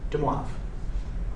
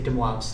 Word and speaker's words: De Moivre: De Moivre. You say De Moivre's theorem, not De Moivre's.